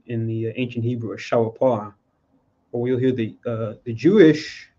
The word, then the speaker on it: shofar: This would be in the ancient Hebrew a shawapar, or you'll hear the Jewish people call it a shofar, where they add the vowels, but shawapar in the ancient pronunciation, which is the word for a ram's horn.